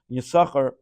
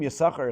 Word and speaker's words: Yisachar: You'll notice that the name Yisachar is something very interesting here. That generally, though we pronounce the word Yisachar, the name Yisachar, but in the Torah it has an extra sin.